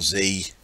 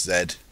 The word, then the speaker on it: Z: to get it started no it's not Z it's Zed the day an Englishman